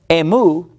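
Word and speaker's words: ἐμοῦ: Plus, emu, you've got an M in it. So it sounds similar to me, the word me.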